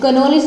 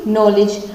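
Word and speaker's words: knowledge: फिर knoll, note, no, नॉलेज, कनॉलेज नहीं बोलता कोई भी, नॉलेज, नकल।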